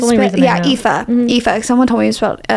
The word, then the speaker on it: Aoife: She, like, for example, it's Aoife or it's Aoife or Aoife or Aoife. I had a friend named Aoife. Yeah, it was spelled it's like that. That's the only yeah, reason I know. Aoife.